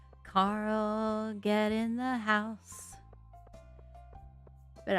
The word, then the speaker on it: Carl: and how he always, because of the way that the actor pronounced the name Carl, he always said Coral?